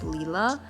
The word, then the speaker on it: Lila: end they correct that her name is actually supposed to be pronounced leela in that you know